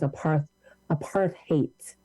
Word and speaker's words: apartheid: the correct pronunciation was apartheid, and that the root of hate in apartheid.